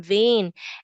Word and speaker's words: vein: And then remember, just like in vine, the N here has the N sound at the end, vein, but then the letter E is quiet, is silent, but you still write it down.